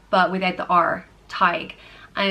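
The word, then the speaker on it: Tadhg: philosopher or storyteller and it is pronounced Tighe like tiger but without the are tyke and it's spelled ta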